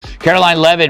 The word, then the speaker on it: Karoline Leavitt: Caroline Lev making her debut the tea is silent Trump's White House Press